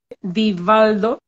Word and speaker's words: Divaldo: yo lo repito mucho se pronuncia vivaldo con d la primera con d la segunda con v divaldo vei documentales la verdad